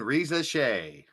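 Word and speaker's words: Risacher: Get used to saying Reza Shea. He says, I still can't pronounce that.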